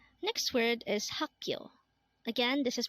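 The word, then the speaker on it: 학교: Next word is hakyo. Again, this is pronounced as hakyo, and this is the Korean term for school.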